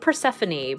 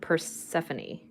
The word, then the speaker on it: Persephone: I say it Persephone, but I think there might be multiple ways of how people approach it. I'm not sure if there is a definitive way, but I pronounce it Persephone.